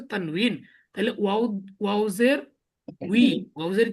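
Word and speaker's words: تنوين: তাহলে আমাদের আরবি সঠিকটা হচ্ছে তানউইন।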